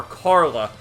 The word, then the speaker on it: Carla: in the English subtitels they call her Carla but the way they pronounce it in Japanese is like Chara if you listen closely so that's why she's